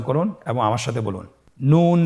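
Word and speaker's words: نُ: পরবর্তী হরফ নুন, হরকত সহকারে উচ্চারণ করুন এবং আমার সাথে বলুন নুন জবর না, নুন জের নি, নানি। আবার বলুন নানি, নুন পেশ নু, নানি নু।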